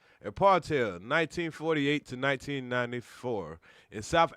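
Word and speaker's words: apartheid: up real quick okay a partel yeah that's how you pronounce it a partel 1948 to 1994 and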